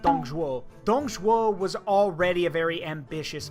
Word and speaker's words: Dong Zhuo: The problem is that Dong Zhuo, and that's how you say it, Dong Zhuo was already a very ambitious man.